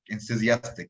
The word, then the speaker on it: enthusiastic: Start with the first syllable. N. Where is your tongue? What's it doing on that final consonant sound? N. It's at the top of your mouth. And the N sound is made back in the soft palate.